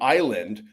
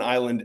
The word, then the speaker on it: island: For example, th is pronounced 'the' and the S in island is silent.